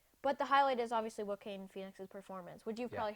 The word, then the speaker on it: Joaquin: I used to say Joaquin. Yeah, or like it's Joaquin. I used to say Joaquin. Joaquin But Phoenix. it's Joaquin.